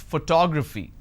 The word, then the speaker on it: photography: I pronounce this as photography. How do I pronounce? Photography. And how many syllables do I have here? Photography. 4 syllables. But in this case, I stress on the second syllable.